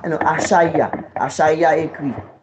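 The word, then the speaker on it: Achaiah: Achaya s'écrit comme ça.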